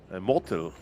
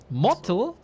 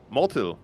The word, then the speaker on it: motyl: Motyl. Mottel? Motyl, yes. It's like it sounds like moth.